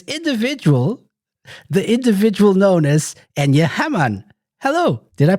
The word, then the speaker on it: Enja Hamman: It's the host of Radio Sega's individual, the individual known as Enya Hammon. Hello. Did I pronounce it correctly?